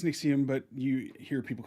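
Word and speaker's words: NXIVM: It's pronounced Nixxium that I've never known how to pronounce it. Yeah, I think it's Nexium, but you hear people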